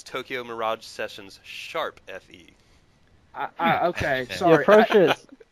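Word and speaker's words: Tokyo Mirage Sessions ♯FE: about for future reference the appropriate pronunciation is Tokyo Mirage sessions sharp Fe okay my precious pronunciation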